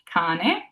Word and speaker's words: cane: We have that C followed by an A, making it that hard K, cane.